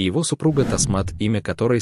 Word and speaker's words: Тасмат: Оно состоит из двух частей, таз, что означает 10, и мат, значение которого палец. В итоге имя произносится как тасмат, и значит оно 10 пальцев.